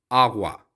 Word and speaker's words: agua: इसे आप गे की तरह भी प्रोनाउंस कर सकते हैं, लेकिन क्योंकि AGUA है तो आप इसे आगवा भी कह सकते हैं, जैसे एक्वा होता है इंग्लिश में, तो ये बेसिकली उसी तरह का है, आगवा।